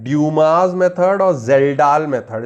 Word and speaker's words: Kjeldahl: तो नाइट्रोजन के एस्टिमेशन के दो मेथड है हमारे पास में, ड्यूमास मेथड और जेल्डाल मेथड। इसमें के साइलेंट रहता है, कजलडाल मत बोलिएगा, नॉलेज को आप कनऊ लद गए नहीं बोलते हैं, नॉलेज को, ठीक,